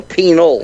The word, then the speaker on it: Pinal: I guess that's how you pronounce it, Pinal. Pinal. Pima. Yeah, Pima County. No, Pinal. P-I-N-A-L. No, it's Pinal County.